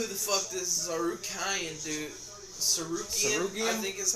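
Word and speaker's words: Tsarukyan: Sarukian? I think is how they say his name. Yeah, Arman Sarukian. Armin Hammer Sarukian. You got Benny Hill, Dariush. I'm pretty sure it's Tarukian. The S is silent.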